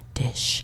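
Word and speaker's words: Disch: Dish with an S-C-H, Dish.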